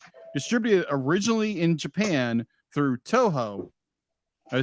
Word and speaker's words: Toho: Produced by Studio Ghibli, distributed originally in Japan through Toho. Did I say it right? Toho? Yeah, it's Toho, Toho.